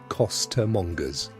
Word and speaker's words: costermonger's: You might be a flower girl, a watercress seller, a costermonger's, pronounced costermonger's, assistant calling out wares at the top of your lungs in a London street.